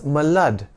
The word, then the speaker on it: milord: In British and even Indian courts, my lord or milord were pronounced as malud in the past, but now this pronunciation is obsolete.